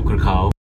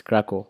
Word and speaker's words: Kraków: to pull it now I'm going to Cracow didn't even know how to pronounce the name of the city its Krakow from Kahala we'll go